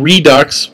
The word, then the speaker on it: Redux: American Redux, which rhymes with sucks.